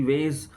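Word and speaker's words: Wace: उसके बाद है अ जो राइटर है जज स्पेलिंग है डब्लू ए सी ई वेज उसके बाद है Mary the फ्रांस Philip the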